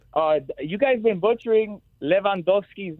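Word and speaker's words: Lewandowski: It's Leandowski. It's not Luendowski. The W is like a V. The E is short. The O is long. Yes. So, Leandowski.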